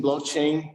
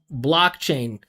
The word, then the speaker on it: blockchain: using blockchain to conf look at how he says blockchain that is not how you pronounce a stress a va like look how small it is an opportunity using blockchain using blockchain bl right at the maybe maybe he's pronouncing the vowel but he is not pronouncing it in a way that's stressed there's no way that could ever be stressed because Is it so small?